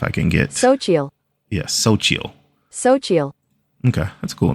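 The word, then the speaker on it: Xochitl: i t l um this is how it's pronounced if I can get so yeah Soo soil okay that's a cool name a bright but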